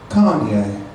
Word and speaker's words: Connie: My mom's name is Connie, but she pronounces it Kanye.